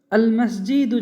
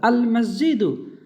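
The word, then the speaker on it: المسجد: তার মধ্যে দেখবেন মিম এমন একটা হরফ যার আগে আল আসলে লাম উচ্চারণ হবে। তো আল মসজিদু, মসজিদুন ছিল মূল শব্দ, আল যোগ হওয়ার জন্য সে একটা পেশ হয়ে গেছে।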